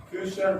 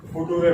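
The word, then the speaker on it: future: बहुत बार क्या होता है, उच्चारण सही नहीं होता है, बहुत सारे बच्चे इस फ्यूचर को क्या पढ़ते हैं, फुटूरे पढ़ते हैं। क्या पढ़ते हैं? फुटूरे। लेकिन इसको फुटूरे नहीं पढ़ना है, अपने को क्या पढ़ना है, फ्यूचर पढ़ना है।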